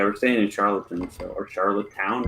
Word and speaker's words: Charlottetown: staying in charlatans or charlotte town how do you say it what's the right way charlottetown yeah that's where we